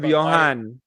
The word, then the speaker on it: Bohan: Paulie B at Mr Bohan right is pronounce it I always bot your last name I just go like full pillow Mr Bohan yeah Mr Bohan yes don't forget the underscore